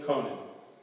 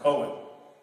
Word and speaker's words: Conan: So I'm going to say her name correctly tonight, and it's Emily Conan. And I was calling her Cohen, so I don't know